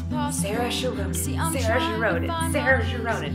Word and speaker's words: Saoirse: Saoirse Ronan, oh, I said it, and I didn't mess it up a single time.